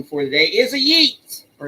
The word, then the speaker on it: Yeats: So, And our final one for the day is a Yeats or Yates. We go from Keats to Yates. It rhymes, sort of, impliedly.